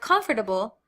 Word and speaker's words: comfortable: Now I do want to note, American English speakers usually reduce this word to 3 syllables. And this is how I normally say the word comfortable.